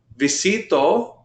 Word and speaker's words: visito: run all right next visito notice how I put the the stress on that second eye visito who am I